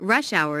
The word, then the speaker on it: rush hour: Notice that rush hour is a compound noun with the main stress on the first word.